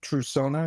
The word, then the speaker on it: Trusona: can go read about true Sona it's spelled TR s o n a it's true and Persona put together and the mission we're